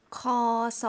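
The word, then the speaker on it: ค.ศ.: 다음 으로 그레고리력 에 대해 들어 보겠습니다 . 코소 . 원래 는 "Khrit sakarat" 였기 때문 에 "Kho-so" 로 표현 합니다 .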